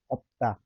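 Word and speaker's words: 없다: एकै ठाउँमा आयो अर्थात अनि जस्तै यहाँ तपाईले उदाहरणहरू हेर्न सक्नुहुन्छ। अप्ता, यो अप्ता हुन्छ साथीहरु।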